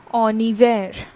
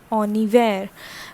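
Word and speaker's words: en hiver: lecture as well that h is usually silent in french okay and the next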